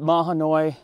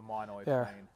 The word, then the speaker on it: Mahanoy: people pronounce pronounce it mah hanoi and some people pronounce it that's the way i always said it there's the monoi i'll say it both